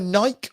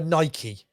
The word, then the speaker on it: Nike: are you are you are you a nike or a nike do you do did you do the e on the end i probably do i'm probably a nike yeah yeah i don't